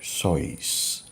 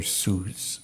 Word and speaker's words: Seuss: insights at Twilight the message comes from Dr soys some people have difficulty pronouncing his name some would call him Dr Seuss but according to the sources they pronounce it